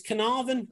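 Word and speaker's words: Caernarfon: the team in wales which if you could pronounce it for me that would be great fernandez it's carnarvon julian we we got asked um to obviously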